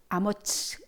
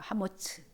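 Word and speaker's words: אמוץ: 성경책에 보면 히브리어로 아모츠라고 해서 아모스라고 번역을 해 놨지만 한글로 사실 원래 히브리 발음은 아머츠 이런 거예요. 하머츠 그죠?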